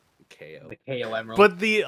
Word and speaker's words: Chao: has a CH guarden just pronounced KO Garden it's def defitely not it's definitely not as in chaos yes they are named after chaos but no it's yeah so that's pronounced KO pronounced KO the KO Emerald but